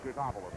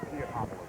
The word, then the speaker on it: Teutopolis: All right, 5-point lead to Teutopolis. They're down over the 10-second line, or Teutopolis. We've heard both pronunciations. They say both are correct.